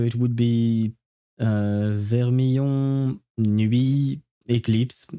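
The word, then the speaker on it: éclipse: Eclipse is the exact same word in French, except we have a little accent on the E, the first one, in order to make it sound like eclipse and not, well, whatever else it would sound as.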